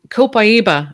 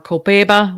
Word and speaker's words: copaiba: i put that with the dragon's blood and copaiba or kopeba whatever way you want to pronounce it that's another oil it's another tree